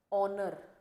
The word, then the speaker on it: honor: But when we say honor, R, okay, HOUR, जिसमें H की sound हमें नहीं सुनाई देती, that ध्वनि we cannot listen.